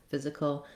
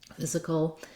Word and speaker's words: physical: Then I pretty much don't say a vowel here at all in the last syllable. I go right from the K, the K sound to the ul sound, that dark L. That's called a syllabic L.